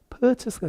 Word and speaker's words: purchase: 이 영국식의 특징이 뭐냐면 받침에 오는 알 발음을 안 해요. 그 무슨 말이냐? 이거 보세요. 구매하다 그럴 때 우리는 이렇게 쓰죠. 한국말로 쓰면 purchase 뭐 이렇게 쓰겠죠. purchase 이렇게 쓸 텐데 이 R을 안 하는 거야. 받침에. 그래서 발음이 purchase가 아니라 뭐가 돼요? purchase가 됩니다.